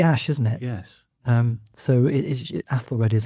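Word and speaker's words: Æthelred: AEthelred the Unready. Some people say Ethelred as well. I think both pronunciations are fine.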